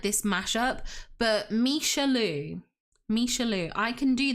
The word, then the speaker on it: Michelle Lou: It's pronounced Misha Louu. Ah, it's a mashup of Michelle Louise.